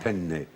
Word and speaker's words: penne: If you pronounce do that have to do wrongly. the double penne. Yeah. It's not penne, but penne.